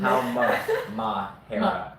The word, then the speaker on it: Halmahera: That's when I can't spell it. Just try it. Yeah. Let's do it. Halmahera. Sound it out. Halmoura. It's an A. Is it? Halmahera.